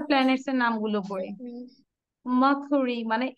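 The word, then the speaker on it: Mercury: মার্কুরি, মানে আর এর উচ্চারণটা আমরা করব না। মার্কুরি, ভেনাস, আর্থ, মার্স, জুপিটার, এই জুপিটার বলবো না, আর এর উচ্চারণ করব না।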